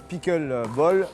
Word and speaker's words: pickleball: Le pickle ball, alors ça se prononce pickle ball, ça vient des États-Unis.